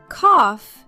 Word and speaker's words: cough: Cough sounds like off.